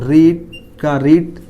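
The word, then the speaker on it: read: तो आई shall have main verb का third form पढ़ चुका हूँगा, तो रीड जो है फॉर्म वो सेम फॉर्म होते हैं, पर सेकंड फॉर्म रेड बोला जाता है, लेकिन स्पेलिंग यही होगा।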